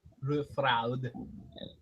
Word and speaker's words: Rufraad: Can you spell that for me? Roof. Like your spelling. And a pin page. It's RUFRAAD. Rufraud.